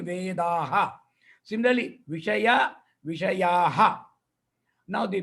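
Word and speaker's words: वेदाः: Vedaha means with Visarga, I'm pronouncing Vedaha.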